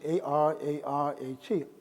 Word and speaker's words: Ararat: So the rule for Greek is you add an A. So it becomes A-R-A-R-A-T, Ararat. So Ararat is actually a Greek mispronunciation or repronunciation of the word Urartu. And so this ancient kingdom,